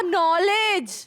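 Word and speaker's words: knowledge: नॉलेज नहीं बाबा नॉलेज। लो तो ये तो सेड़े में गलत हुआ ना फिर। अगर के बोलना ही नहीं तो के को रखा क्यों? उसको छुट्टी दो। वो इसीलिए क्योंकि के साइलेंट है।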